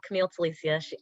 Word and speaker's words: Camille Telicia: very excited to be here number one um camille telisia first of all i live for people saying